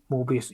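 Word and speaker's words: Möbius: Whereas with Mobius, you call it Mebius, don't you? You say it properly.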